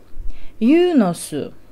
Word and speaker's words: Eunos: Yunos – это машина Yunos, пишется Eunos латиницей, но уже, по-моему, не выпускается.